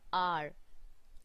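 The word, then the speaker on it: hour: A European, a university, an R. Though H is here, we say it as R, which means H is silent here.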